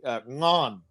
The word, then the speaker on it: ngon: So in Vietnamese, we have this word delicious. We say ngon, spelled Ngon, Ngon, ngon, Ngon.